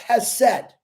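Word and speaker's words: חסד: It's pronounced hesed, which it means a journey with somebody.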